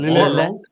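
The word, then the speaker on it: Lillet: I sent him Lille. Pronounced Lille.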